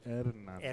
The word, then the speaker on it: Hernandez: And yours is Hernandez? Si, senor. Hernandez. Well, if you want to say it like the true Spanish way, it's Hernandez.